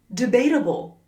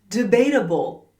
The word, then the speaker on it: debatable: Number one, debatable. Debatable. Debatable. What's this part here? It's the word stress. We say debatable, not debatable or debatable. Word stress is incredibly important.